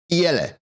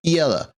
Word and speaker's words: Iele: So this is Iele. The Iele. Iele? You have to say it like that. You have to bring your shoulders up, get out your chin, and go Iele.